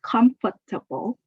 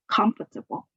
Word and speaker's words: comfortable: you is the word comfortable. You can pronounce it in 4 syllables, comfortable, or you can say it in just 3 syllables, comfortable. The stress is on the first syllable, comfortable, comfortable.